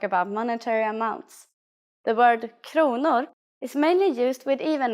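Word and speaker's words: kronor: is konor please pay attention to this first pronunciation konor let's try to say prices in Swedish start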